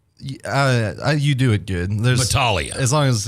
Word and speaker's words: Battaglia: yeah uh battalia is that is that three syllables or four four uh you do it there Balia as long as it's not blia no no no no it's see I'm a